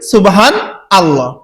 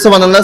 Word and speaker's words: সুবহানাল্লাহ: আমরা তো সবাই পাঠ করি সুবহান আল্লাহ, কিন্তু আসলে সঠিক শব্দ হবে কি, উচ্চারণ হবে সুবহানাল্লাহ। সুবহানাল্লাহ। নুন লাম জবর নাল, সুবহানাল্লাহ। যেমন আল্লাহু আকবার, আলিফ থাকার কারণে হলো আল্লাহু, তো সামনে নুন আসার কারণে হবে কি নাল্লাহু।